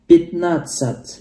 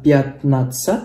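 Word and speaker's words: пятнадцать: 15 pitnatsat ya. Jadi bukan bacanya bukan piatnatsat bukan tapi jadi pitnatsat ya. Ini cara bacanya pitnatsat.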